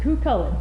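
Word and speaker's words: Cú Chulainn: Connor Nagel with €229 with Cucullin is pronounced Cucullin.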